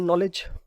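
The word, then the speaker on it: knowledge: हम सभी जानते हैं इसमें के साइलेंट है सो नॉलेज वर्ड की करेक्ट प्रोनंसिएशन नॉलेज अब केस में साइलेंट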